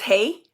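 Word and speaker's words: Hej: Hey, is it hey he haj he? It's just hey.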